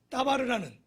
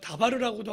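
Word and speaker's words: דבר: 단어가 어디서 파생되었냐 보냐면 따바르라는, 우리가 다바르라고도 하고 따바르 이렇게 우리가 발음을 하는데요.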